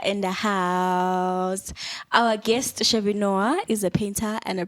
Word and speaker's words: Chevy Noir: But what most people do is you try to run through it like Chevy Noir. And I'd appreciate when people like break it up into its segment, Chevy Noir, because that's how it came about.